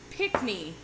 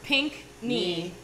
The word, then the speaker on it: Pickney: I mean, Pronounce the name of our company. It's Pickney. Think color in the body part. Pink knee.